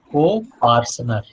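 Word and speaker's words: coparcener: Co-parsoner. पार्टनर बोलते हैं ना, तो P की जगह C है, पार्टनर की जगह पार्सनर. बोलिए इसका जवाब क्या होगा?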